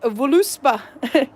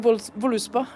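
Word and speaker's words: Völuspá: It could be like voluspa. Actually, the way it's spelt there, it looks like verluspo. because it's got the Swedish O with the 2 dots. Yeah. And it's, well, Swedish letters. Vurlusbo.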